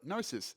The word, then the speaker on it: gnosis: great concept called gnosis that's kind of what gnosis but gnosis spelled g-n-o-s-i-s now gnosis is the